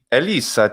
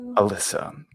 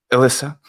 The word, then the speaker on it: Elissa: There's a difference between the way I say my name in English and the way I say my name in Italian. Because Ovviamente. the vowels change. Mm, And dici. yes, and I put the double S in the Italian version. So the English version is Elisa, so it's like an Elisa.